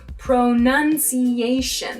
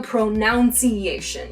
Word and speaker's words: pronunciation: It's actually pronunciation. There's no pronunciation here, right?